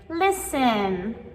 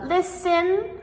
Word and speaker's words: listen: Nine, we have the silent T. So, words like listen, fasten, and castle. So, listen, we spell l i s t e n. But, we never say listen, right?